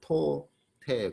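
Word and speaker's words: τότε: 발음도 토테 그래요. 토테.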